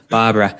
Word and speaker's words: Barbera: It's a Three Gables Barbera. I think you're actually supposed to pronounce it as, but yeah, there's a small bottle. It's Barbera.